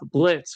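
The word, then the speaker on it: Blitzø: The O is silent.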